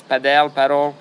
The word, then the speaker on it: padel: to answer it because I'm guilty of pronouncing it both ways. Padel. You've used it interchangeably. I use it like I tend to say paddle 39 and then I